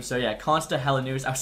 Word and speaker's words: Konsta Helenius: I actually asked my Finnish friend Ken how to pronounce his name. So yeah, Konsta Helenius.